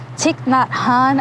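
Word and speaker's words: Thich Nhat Hanh: it's by the author I think his name is pronounced tick not Han I could be wrong in excerpt 27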